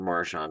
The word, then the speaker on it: Marchand: uncomfortable discussion is Brad marshand or Maran depending on how you pronounce it I'm going to pronounce it marshan in this video is he a